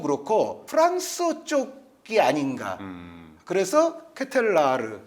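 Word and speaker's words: De Ketelaere: 네, 저의 마지막 선수는 흡이차 크바라츠켈리아에 이어서 이 선수도 발음이 좀 어려운데 샤를르트 케텔라르. 네. 약간 뭉개야 돼요. 이거 정확치 않을 수도 있어요. 네. 근데 이게 일단 케텔라에르는 아닙니다. 본인이 얘기하더라고요.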